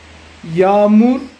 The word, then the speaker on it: yağmur: En turco, para decir está lloviendo ahora, yağmur yağıyor. Yağmur, yağmur yağıyor. Yağmur yağıyor. En turco, la letra G suave no se pronuncia. Alarga la vocal anterior.